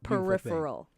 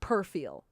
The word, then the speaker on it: peripheral: I saw it, and it was a peripheral. Peripheral vision. What did I say? Perfiel. It's pronounced peripheral vision. God knows my heart. But please don't let our listeners think it's pronounced perfiel.